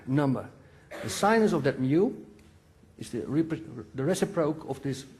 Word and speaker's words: mu: You also see here a angle, mu. The speed, mu, yeah. What's the proper English pronunciation?